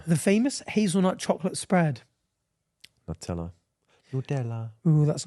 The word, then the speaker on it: Nutella: yeah local accent like that's just an Italian brand pronounced Italian Le yeah exactly like